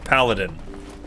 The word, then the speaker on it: paladin: door cannot be opened it rhymes with aladdin aladdin paladin pal i can't aladdin